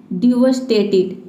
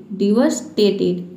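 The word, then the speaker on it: devastated: देखिए सबसे जो लास्ट वाला वर्ड है इसके प्रोनंसिएशन पे आपको ध्यान देना है। इसको आपको प्रोनाउंस करना है डिवस्टेटेड। डिवस्टेटेड।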